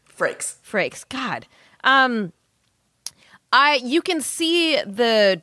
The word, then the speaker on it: Frakes: Frakes.